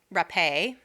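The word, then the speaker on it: Rappe: about the rape and murder of Virginia RUP RUP a is how you say her name I made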